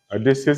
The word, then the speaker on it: Odysseus: Odysseus is spelled O-D-Y-S-S-E-U-S, Odysseus.